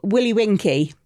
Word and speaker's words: Willy Winky: So what's the story of Willy Winky, if I'm saying that correctly? You are saying it correctly.